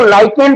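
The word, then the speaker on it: lichen: कारण, जिसको हम लोग लाइकेन बोलते हैं। क्या बोलते हैं? लाइकेन। ठीक है, बहुत सारे लोग इसको लीचेन भी पढ़ते हैं, तो प्रोनाउंसिएशन चलता है, ठीक है।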